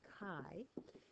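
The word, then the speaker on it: χ: which is the Greek letter Kai pronounced Kai and it represents the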